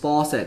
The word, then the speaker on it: faucet: 整个水都满出来了，并没有。OK，好，刚刚讲的哈，the sink 这个是就这个啦，水槽就是 sink。那 dishes are being washed in the sink 没有 dishes，然后 the sink's faucet 刚刚说了就是这个水龙头啊，这个字发音比较特别哦，它长得像F-A-U-C-E-T faucet。最后 the sink is overflowing with water，所以这样应该就非常的清楚了。好的，以上就是我们今天的什么什么东西 is being 加上 PP。OK，所以呢一定要有人记得，所以这个刚好答案就是 A，就是这一个句型了。好的，那我们就下部影片见咯，我是季安老师，拜拜。